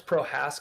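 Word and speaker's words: Procházka: Alex Prohaska. That's spelled like P R O C H A Z K A.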